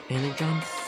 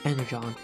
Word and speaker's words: Energon: let's go on a mission to get circular energize it's pronounced Energon LinkedIn to make us alive anyways we gotta